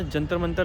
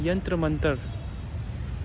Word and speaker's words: जंतर मंतर: और इसका नाम जंतर मंतर लोगों ने मिस प्रोनाउंस करके रख दिया है, इसका नाम है यंत्र मंतर। यंत्र मंतर इसका असली नाम था, पर प्रोनाउंस कर करके इसको जंतर मंतर बोलने लगे लोग आजकल।